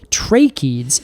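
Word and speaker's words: tracheids: Define tracheads first okay tracheeds and that is spelled t-r-a-c-h-e-i-d-s yes trachea exactly like trachea oh Alex is like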